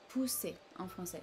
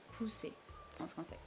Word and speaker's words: pousser: in English would be pousser en français. So you see a bit less intensity here. Push, pousser en français.